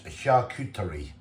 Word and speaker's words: charcuterie: Just found out how you pronounce that. It's charcuterie, which is Italian, and that's for like the pork, like cold pork, how they do it.